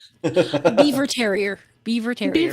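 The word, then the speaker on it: Biewer: Bea Beaver. The The way the people who started the breed want it pronounced is Beaver.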